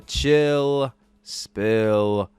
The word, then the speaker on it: Chill Spill: So that is pill spelled with an S, but it's silent, much like my Blue Yeti microphone, because I am no longer on that thing.